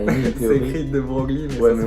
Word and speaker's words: de Broglie: écrit de Broglie, mais Ouais, ça mais se on dit prononce de Broglie.